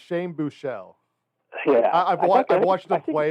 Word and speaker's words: Buechele: Obviously, they signed the SMU quarterback whose last name I can't pronounce yet. I did this. His first name is Shane. It's Shane Buechele. Yeah, I've watched them play it's enough Buechele.